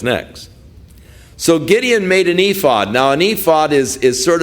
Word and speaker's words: ephod: And it could be that Gideon's purpose in this ephod is how it's actually pronounced, that the purpose in the ephod was to ascertain God's will.